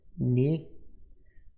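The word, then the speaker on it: eñe: The Enye is pronounced ni and sounds like canyon.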